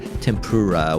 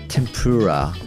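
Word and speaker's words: 天ぷら: 5 tempura in fact I sometimes hear an English speaker saying tempura when we talk about food like oh I like tempura let's take a look at the pronunciation of it tempura it sounds to me they probably consider it having three syllables while it is supposed to have four morals in Japanese when Japanese people pronounce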